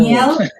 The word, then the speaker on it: Niel: It's No, Niel. it's Niel actually. Sorry Yeah. to. Okay, sorry for It's Niel. Yeah. It's like Yeah. the former mayor of Iloilo, Niel Yeah. Kipas.